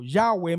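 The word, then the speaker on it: Yahweh: el nombre de Dios o yahwe más o menos así se pronunciaba en hebreo Ah no era normal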